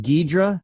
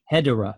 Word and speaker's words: Hedorah: It's just Hedra or Hedra. Hedra and this Hedra because I think we had the pronunciation Gedra. So I think they just made the logical leap to Hedra as you know just changed the first but it but